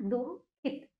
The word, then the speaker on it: दुःखित: हल्का सा इसमें हा का उच्चारण बीच में होगा।